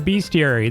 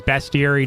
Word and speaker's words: bestiary: getting rods is to complete your beastiary the beastiary or also known as bestiary depending on how perfect you want to be with the pronunciation of that but uh the beastiary